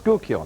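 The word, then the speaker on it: Schuylkill: North Skookill.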